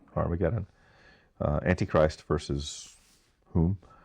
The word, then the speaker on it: Har-Mageddon: Did I pronounce that right? That's right. Har-Mageddon.